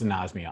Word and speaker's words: anosmia: help you remember it it's pronounced in osmia i believe um but uh that